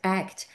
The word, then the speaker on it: ACT: What is still important committed action that's why act is pronounced act because act says there